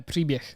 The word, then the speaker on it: příběh: And the r is really like difficult, even for Slovak people to pronounce. I know the only word that I can kind of say, like príbeh and příbeh. Yeah, příběh. Yeah.